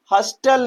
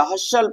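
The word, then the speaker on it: hustle: तो इसे हम हॉस्टल नहीं पड़ेंगे। हॉस्टल नहीं पड़ेंगे। इसे हम क्या पढ़ेंगे भैया? हशल पढ़ेंगे। क्या पढ़ेंगे? हशल। है कि नहीं? क्यों पढ़ेंगे? क्योंकि यहां पर हमारा टी क्या है? साइलेंट है।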